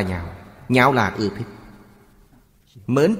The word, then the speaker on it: nhạo: Ở đây chữ này không đọc là lạc, lạc là vui sướng, phải đọc là nhạo.